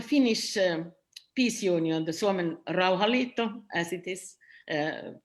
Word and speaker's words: Rauhanliitto: and for the finnish peace union the solomon rauhalito as it is uh pronounced uh i would say that we will